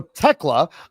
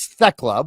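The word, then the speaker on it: Thekla: So, so Techla, I I I thought it was Techla, but I was informed on Tuesday that it's actually Techla that you don't pronounce the th you just pronounce the T.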